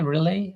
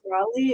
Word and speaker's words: Raleigh: Is that Raleigh? Relay? How would I should pronounce that? Raleigh is, yeah, Raleigh.